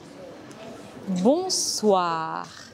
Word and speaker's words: bonsoir: Les lettres O et I forment le son wa en français, que l'on retrouve dans le mot moi. C'est un son similaire à la voyelle dans one en anglais. Bonsoir.